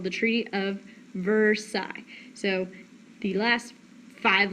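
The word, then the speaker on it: Versailles: why this treaty is called the Treaty of versai so the last five letters of that word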